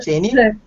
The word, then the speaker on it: Jane: Her name is pronounced Janie.